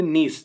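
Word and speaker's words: niche: एटा नीचे बोली पड़बो ना, एटा होची नीश, ता उच्चारणटा होची नीश।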